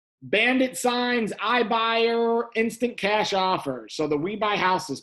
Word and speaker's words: OFFRS: One of them is called Smart Zip, and the other one is called Offers. It's spelled OFFRS, like the word offers without the E in it.